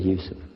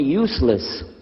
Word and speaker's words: Yusuf: youssef can you say yousef and he said yusuf you're very good i wish you'd teach my wife she keeps mispronouncing it she calls me useless now how many of you were in the